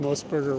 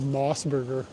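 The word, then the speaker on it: Mos Burger: That person who told me I pronounced Moosburger wrong lives rent-free in my head. Every time I see a Moosburger, I think about this motherfucker. You know you say it wrong. It's called Mossburger. What?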